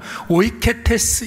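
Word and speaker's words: οἰκέτης: 헬라오로는 오이케테스 이렇게 발음을 하는데 오이코스라는 말이 집이거든요.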